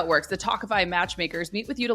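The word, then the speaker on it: Tawkify: feel your best when meeting new people with talkify that's spelled t-a-w-k-i-f-y you'll feel confident that you're meeting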